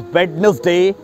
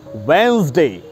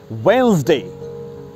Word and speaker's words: Wednesday: People often wrongly pronounce it as Wednesday. It's wrong. The correct pronunciation of this word is Wednesday. Wednesday.